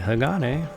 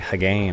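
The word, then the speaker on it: Hagane: a ninja cyborg name that's right Hagan and I had to look that up to make sure I knew how to say it cuz for the longest time I had no idea I thought we saw was like Haan or I don't know but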